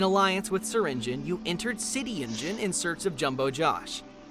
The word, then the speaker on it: Syringeon: the Same in Alliance with syringin you entered City Engine in search of jumbo Josh but City Engine was very different the mayor of the city